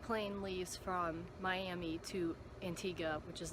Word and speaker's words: Antigua: I feel like it depends on where you're from with how you say it, but they say it Antigua there, so I'll call it that.